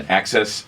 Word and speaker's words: AXS: If you're looking for it, it looks like it's spelled AXS. Right. And there was actually some confusion on how to pronounce it. I was watching the 12-12-12 concert the other night, and they said it, and I'm like, oh, that makes sense. You say the word ax and then add an S.